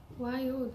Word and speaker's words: wild: I like to tell people to do this one like this. Wild. Oh, good. Wild as 2 syllables, okay? If you slow it down and you do 2 syllables, you're going to speak it more clearly, okay?